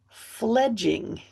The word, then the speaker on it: fledging: Okay, I pronounced that wrong. Let me read that again. A chick's first flight from the nest is called fledging. So that's the flight, the fledging.